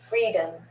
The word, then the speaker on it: freedom: so r-e-e-d read read freedom freedom and the o in freedom is a schwa freedom freedom events events